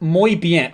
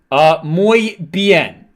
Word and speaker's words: muy bien: It's pronounced muy bien. Oh, that makes a lot of sense. Muy bien.